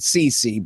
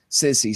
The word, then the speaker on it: Sisi: They say you're supposed to pronounce it Sisi, but Sissy seems more fitting to me since he's a